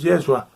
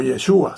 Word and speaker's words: Yeshua: Repetimos que es una falsedad, una doctrina falsa decir que el hombre Jesús, Yeshua, o Yeshua, según quien lo pronuncie, fue divinizado después de su muerte y resurrección.